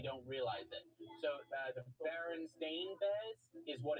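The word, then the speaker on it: Berenstain: realize it so the baron stain Bez is what it's called but everyone grew up thinking it was called the baron Stein Bez it's Baron stain and everyone thinks it's baronin Bez so the theory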